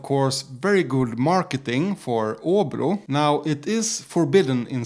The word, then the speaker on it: Åbro: with bear this bear Oru but if you're not used to the Swedish pronunciation you might think it's pronounced abro so they start goofing